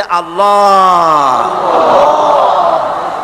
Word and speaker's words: আল্লাহ: আল্লাহ পাকের উচ্চারণটা হচ্ছে, আল্লাহ পাকের নামের উচ্চারণ হচ্ছে আল্লাহ। মুখটা একটু গোল হয়ে যাবে, বলেন আল্লাহ আল্লাহ।